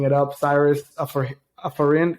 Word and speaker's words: Afarin: up Cyrus for a foreign how do you how do you say your last name you could just say Alfred like that nose spray it's okay yeah appreciate